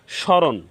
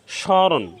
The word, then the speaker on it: স্মরণ: হয়েছে দন্তস এর সাথে ম ফলা সংযুক্ত হওয়ার কারণে এখানে ম ফলার কোন উচ্চারণ হবে না স্মরণ স্মরণ শ্মশান স্মৃতি সারক এখানে